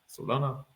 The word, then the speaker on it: Solana: cryptocurrency let's talk about Salon uh soluna I don't know how to pronounce it correctly saluna the blockchain Solana Solana yeah they had multiple breakdowns